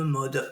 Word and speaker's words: Maud: aller à la à la rencontre bah de mode mode cfondatrice de l'agence de voyage trail trail